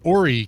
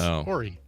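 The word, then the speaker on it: Horry: says that it's pronounced ory county and not Hy even though there's an H at the beginning of that it's ory well I'm going to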